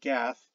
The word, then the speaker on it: Gad: the root probably from the biblical gad pronounced gath the jutes of jutland